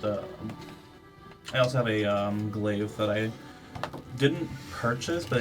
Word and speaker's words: glaive: I also have a glaive that I didn't purchase, but I needed some repairs, and I finally have the money to fix it up because it's a homemade. Is glaive the right way you pronounce it?